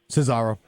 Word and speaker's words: Cesaro: His partner, how do you pronounce it? Cesaro.